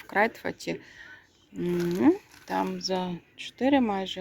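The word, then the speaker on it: Kruidvat: Це Крайтфат. Крайфат. До речі, в нідерландській мові наголос на перші склади в основному.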